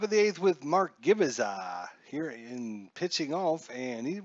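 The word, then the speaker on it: Gubicza: Mark Gubaza.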